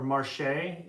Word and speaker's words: Marché: said go to the Plan du Marche or Marché, is how you say that fancy E with the accent on it. The Marchie?